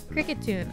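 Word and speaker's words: Kricketune: this Pokemon's name ever Cricket tune oh that's so easy because he's a cricket and he has a tune what the hell it's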